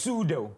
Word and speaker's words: pseudo: yeah like for example words that starts with the P and the second letter in the word is an S and then you can't pronounce the pecos a P is now silent yeah yeah psychology yes